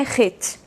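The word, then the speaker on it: חטא: A pronúncia dessa letra, da letra Het, lembra de pecado, né, que se escreve com as letras Het, Tet e Aleph. Pecado é Het. São iguais na pronúncia, mas não na escrita, porque a forma da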